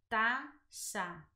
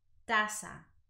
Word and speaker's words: taza: I'm from Venezuela, so South America or Latin American Spanish, the sound is more like an S. So I'll pronounce it taza, taza, right, with that S sound.